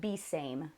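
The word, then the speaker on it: Besame: never heard of it it's BES AM II it's like be same the way that it's spelled sarah says that the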